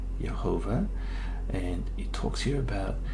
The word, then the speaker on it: Jehovah: is pronounced it's got the full vowel so pronunciation is right there it says jehovah all right and that's the proper name of